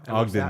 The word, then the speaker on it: Ogden: Is that how you pronounce it? Ogden, Utah? Ogden, Ogden, Utah.